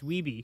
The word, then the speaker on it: Wiebe: It's Wiebe, because he...